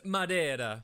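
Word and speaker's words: Madeira: now yet instead here you are sucking down madira wine like it's the first job you've ever had well Mary I just thought it was about time someone did some sucking in this house and it's pronounced Madera oh go down to the hob if you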